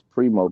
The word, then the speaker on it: Preemo: Primo the General's Corner, and I believe the spelling on that is PREEMO THE, then General, GENERAL. Primo the General's Corner, right? No, it's Primo, PREMO. Oh, okay. Primo's, PREMO THA, General's Corner.